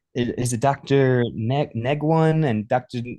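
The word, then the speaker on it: Nguyen: Neguan and Dr. Nuan?" And I'm like, "It's it's probably Dr. Noan because it's Vietnamese."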